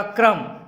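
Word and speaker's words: crumb: पांचवा क्या है आपका क्रम, CRUM, B आपका साइलेंट है, इसका मतलब होता है कण या टुकड़ा या दाना।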